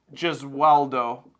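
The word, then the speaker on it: Gesualdo: us can give him some feedback uh so gizueldo is how you spell it and if you just type in moro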